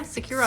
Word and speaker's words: SecuROM: Securom? Yeah, Securom.